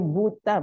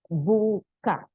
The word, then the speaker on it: buka: Don't say buta but buka.